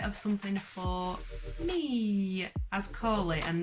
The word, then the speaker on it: Colie: First things first, my name is Colie. It was Nicole, but I changed it when I was 16. It's not Colie like the dog, like a lot of people think. It is spelt like this.